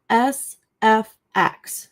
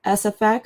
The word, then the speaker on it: SFX: Um a lot of abbreviations, if you come come across some abbreviations, they're usually spelled out by letters, um unless there's some vowels in there or and um unless they're longer. So, in this case is just SFX.